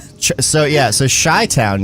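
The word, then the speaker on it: Chi-Town: Oh, I I don't So, yeah, so Shy-Town used to reference the city of Chicago is pronounced Shy-Town.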